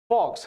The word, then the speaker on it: vox: अब ये फॉक्स क्या होता है, इट इज FO मतलब VOX बट इट is pronounce as फॉक्स, है ना।